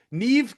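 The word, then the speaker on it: Niamh: Oh, Neve. Nev Kahan. Uh which sounds like Steve. Nev sounds like Steve.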